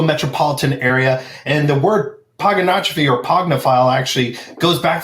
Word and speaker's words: Pogonotrophy: So it is Pogonotrophy, and the easiest way to nail it every time is Pogonotrophy. Pogonotrophy. It's kind of like hippopotamus. It's hippopotamus. That's how I remember how to spell it.